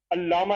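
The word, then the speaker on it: علامہ: करते सही तरह से इल्लामा इकबाल इल्लामा नहीं वो तो अलिफ ये लाम मानी और ब अल्लामा इकबाल ठीक है एन से तो अल्लामा इकबाल कहना चाहिए फिर फिर कौमी तराने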